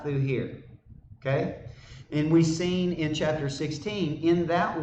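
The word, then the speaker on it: סין: israel came unto the wilderness of seen is how you say that in hebrew seen we'll see that it's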